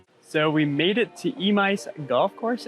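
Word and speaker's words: Emeis: So we made it to Emice Golf Course. And yes, that's what people tell me it's pronounced like.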